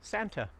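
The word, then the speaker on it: Санта: that in Russian is Santa just like that guy that wears that red suit and comes around Christmas time comes down your chimney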